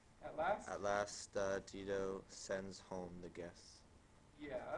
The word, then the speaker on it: Dido: english whether you can use the latin pronunciation digo or the english pronunciation dido uh maybe you're better